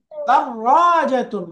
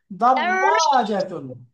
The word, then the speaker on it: دراجة: دراجة দাররাজাতুন, রায়ের উপরে তাসদিদ, দুইবার উচ্চারণ, বলো আবার। দাররাজাতুন।